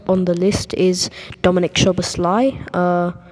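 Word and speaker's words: Szoboszlai: the list is Dominic shobassly uh that that name's a bit hard to pronounce don't you think yeah totally I was I was saying Dominic slay a few days ago yeah uh so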